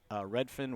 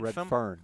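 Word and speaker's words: Redfern: How do you say it? Redfin? Red fern. Where the red fern Where grows. the red fern grows, Mick. There's an R in there? Yes.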